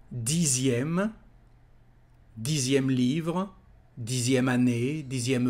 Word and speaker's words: dixième: Dixième, again here the letter X is said like a Z. Dixième, dixième livre, dixième année, dixième euro.